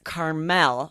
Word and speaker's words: Carmel: Well, I know Carmel is also a city in California, right? Near Malibu. Isn't Well, it? that's a different pronunciation again, right? And that's Oh, okay. that's spelled Carmel. Right. But it's Carmel with the Carmel.